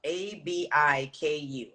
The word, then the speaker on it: abiku: time right so it's called an abiku so it's spelled a-b-i-k-u yeah abiku so when you come from a